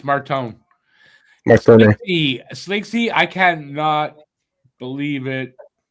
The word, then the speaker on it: Martone: How do you say it? Cam Porter Marton. Porter Marton. Yeah. Yeah. Just I love hearing that. I thought it was Porter Martone. There's no U. Marton. Marton.